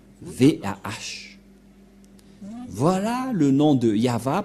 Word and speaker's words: Yahvah: invoqué le nom de Yahva, et la prononciation de Y-H, Vav, He, selon les Hébreux, c'est Yahva, et personne ne peut